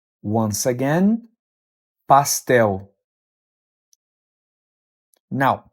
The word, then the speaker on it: pastel: The correct pronunciation is pastel. Once again, pastel. Now, pronunciation can vary depending on the region. So you might also hear it pronounced as pastel or even pastel.